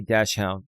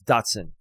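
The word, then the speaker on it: dachshund: I adopted a mini dash hound or Datson." That's why I need that. That's like you It's It's spelled like dashhound, but it's Datson.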